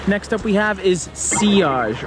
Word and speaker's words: sillage: up we have is C OSH or cyllage as some people pronounce this is one that